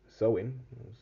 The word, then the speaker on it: Samhain: of October the 31st they celebrated sewing that's how to pronounce it when it was believed